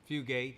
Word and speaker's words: Fugate: well you know I'm part fugit Fugate as they pronounced down the road bit and I'm part